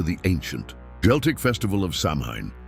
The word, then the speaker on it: Samhain: The origins of Halloween trace back to the ancient Celtic festival of Samhain, pronounced Samhain, celebrated over 2,000 years ago by the Celts in regions that are now Ireland, Britain and northern France.